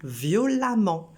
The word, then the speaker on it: violemment: en ement, comme violent, violemment. Seulement, il faut se rendre compte de la prononciation. Là, au lieu de prononcer E, on prononce A.